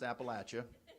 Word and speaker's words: Appalachia: teach you how to talk yes yes it's pronounced Appalachia it's B it's in it's banan County it's